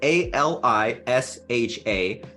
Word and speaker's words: Alicia: It's not easy to spell, but we will spell it since the podcast will say Alicia is Alisha.